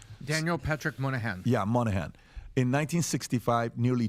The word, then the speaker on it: Moynihan: Daniel Patrick Moynihan.